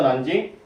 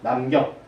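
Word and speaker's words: 南京: 중국 발음으로 난징. 이거를 한자 순서에 읽으면 남경.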